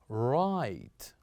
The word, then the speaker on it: right: So here this word is right. Right. So here we kept G and H silent as well.